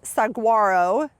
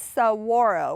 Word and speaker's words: Saguaro: of people pronounce this Saguaro sagaro it is saaro with a W sound and uh this is